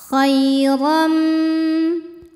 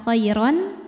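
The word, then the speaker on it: خَيْرًا: Jadi bunyinya bukan khairon tapi khairam, m. Sambil kita nahan.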